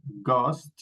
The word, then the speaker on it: ghost: Now we don't pronounce the H. Maybe you have learned that the letter H is pronounced like a J in Spanish. No, for example, when we find the letter the word house, no house. The first letter is an H and we pronounce that house. House. But here in this group of words, we don't pronounce the H.